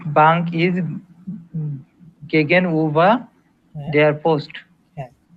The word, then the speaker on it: gegenüber: দি বাঙ্ক ইজ গেগেন Uber হ্যাঁ, দেয়ার post. হ্যাঁ। আপনি এই যে আরটা শেষে একটু ভালোভাবে উচ্চারণ করতে পারবেন, কোনো সমস্যা নেই, হ্যাঁ? হ্যাঁ, দি ব্যাংক ইজ গেগেন ইউবার there post, গেগেন ইউবার, ঠিক আছে ভাই?